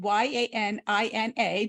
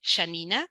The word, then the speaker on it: Yanina: sure my my name you can say Shanina how I will say my name but it's okay you also say Yanina great um so I'm